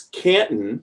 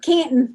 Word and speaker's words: Canton: but Canton, it's Canton. Canton. Yeah, there's no T there. But they say C-A-N-T-O-N. We almost don't pronounce the T.